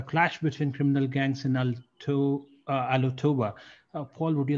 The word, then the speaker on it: Alotau: First of which is Papua New Guinea, a clash between criminal gangs in Alotoba. Paul, would you like to elaborate on this? Yeah, the clash in Alotau, it's pronounced Bhargav, it's a town or residential area